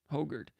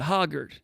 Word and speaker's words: Hoggard: It's Hogard. Konendijk pronounces it Hoggard, and that's incorrect. And Konendijk's got me messed up on that. It's not Hoggard. It's Hogard.